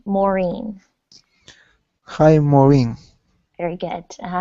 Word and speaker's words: Maureen: you there hi ma maroon it's um my name is pronounced maureen hi maureen very good